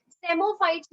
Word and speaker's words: psammophytes: Psammophytes में I can give you an idea that say P is silent over here, तो this से आप याद कर सकते हो as a sandy soil.